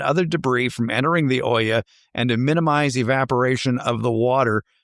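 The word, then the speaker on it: olla: And again, it's spelled o l a. Mhm. Even though you're being fancy and saying oya.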